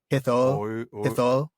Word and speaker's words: Hithoel: time, like oi, but Hithol. That's probably the right way to say it, but I think that's why Tolkien says just say it like OI, which just say it like he this.